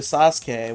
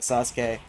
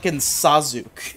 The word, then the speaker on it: Sasuke: to play as but i did not know how to pronounce his name i called him sazuk and i remember my cousin corrected me one day and i